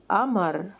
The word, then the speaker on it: قمر: زي الهمزه غالبا فكلمه قمر بتتنطق قمر وقلم بتتنطق الم الم الم